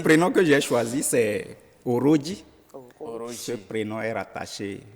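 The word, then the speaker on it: Orodji: qui s'écrit avec un seul O, c'est O. Oui, bon, en français, on va l'écrire O-R-O-D-J-I. Voilà. Mais en Peul, ça s'écrit 2 O au début, Ok. R-2-O, Ok. J et I. D'accord. Puisque le J en Peul, c'est Djo.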